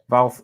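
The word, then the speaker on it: Walther: on sir well the PPK is that pronounced Walter well it's it's Jim and also Walter though valve valve if you're pronouncing it properly if I've only seen that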